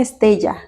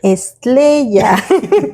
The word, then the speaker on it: estrella: No, dijo una estella. Dijo, es una estella. Entonces nuestro hijo dijo, no, no se dice así, se dice estrella.